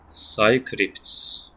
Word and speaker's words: Psycrypt: The this channel, Psycrypt. Psycrypt. That's how you say it.